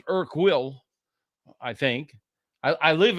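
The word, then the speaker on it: Urquell: And u um it's pronounced Irk will I think I I live in a community that has a lot of checks.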